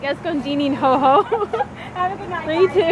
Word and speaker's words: Escondidinho: So we're trying to figure out how to pronounce this word. I think it's escondidinoho.